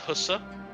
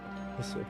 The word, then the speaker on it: HSR: It's pronounced Hussa. Hussa.